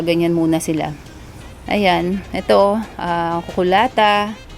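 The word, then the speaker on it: cucullata: Ayan, ito, kukulata. Kukulyata ba yan? Kukulata ang pronunciation.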